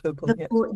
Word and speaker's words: Vipul: Yes, Vipul.